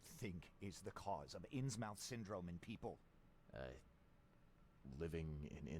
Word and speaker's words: Innsmouth: It's actually pronounced That's Innsmouth.